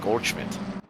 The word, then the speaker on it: Goldschmidt: I'll say it in the proper German pronunciation, Goldschmidt.